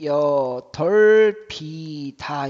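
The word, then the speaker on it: 여덟이다: 여덟 이다 어떻게 해야 돼요? 역시 뒤에 것만 넘어가야 돼. 그럼 어떻게 되니? 여덜 비다 이렇게 돼야 돼요.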